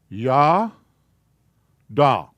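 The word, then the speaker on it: ידע: So it has to be there, even though you don't pronounce it, so that's pronounced ya, da.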